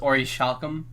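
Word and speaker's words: Orichalcum: right or calcum um it's actually pronounced Ori shockham you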